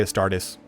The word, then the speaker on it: Astartes: I say Astartes. I took 4 years of Latin. That's how I like to say it. You can say whatever you want. There's no established pronunciation lexicon.